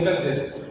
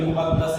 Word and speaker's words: مقدس: اکثر طلباء یوں بولتے ہیں کہ مقدس, حالانکہ مقدس نہیں بلکہ مقدس ہے، دار عزت ہے۔ قرآن